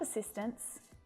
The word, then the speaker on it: assistants: But when the S is added the T softens and most of the time you can't even hear it.